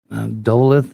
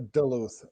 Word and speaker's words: Duluth: that man it's a duluth news now i i can't hear you do that again duluth news now doula okay i was close yeah it's like duh luther yeah i got you